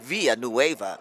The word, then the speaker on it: Villanueva: You have to say it like that, Villanueva.